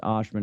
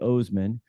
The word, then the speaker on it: Ohsman: It's spelled Ohsman, but it's pronounced Ashman. It should be Ohsman, but you'll have all that in your great show notes and everything else.